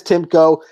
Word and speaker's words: Timko: In the, is it Timko? Is that how you pronounce his? Yes, Timko.